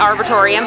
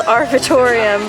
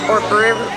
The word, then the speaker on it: Arboretum: Mom we're at the I think I was pronouncing it wrong earlier I said it's arbitorium but that's right no it's um how do you say it I thought it said Dallas Arboretum but anyways what is